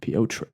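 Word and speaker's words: Petr: Peter Yan. Piotr. Yeah, you got to really pronounce it.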